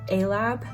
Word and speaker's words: Alabe: a-lab oracle deck and that is how you say a-lab a play on words for an astro lab which is actually a